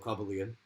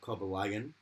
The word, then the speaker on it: Cobalion: It took me ages to work out that Cobalion. Oh, It was called Cobalion, and not Cobalion.